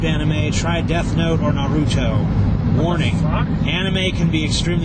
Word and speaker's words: Naruto: However, I have to criticize your taste with It's not Natu, it's Naruto.